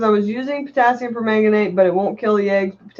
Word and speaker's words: permanganate: potassium permanganate permanganate Sal that's pronounced permanganate Barbara says I think